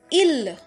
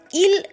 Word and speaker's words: ils: healer i LS so in french we do not pronounce the S in the end of a word so ILS will be pronounced as ill okay and ILS ill means day they which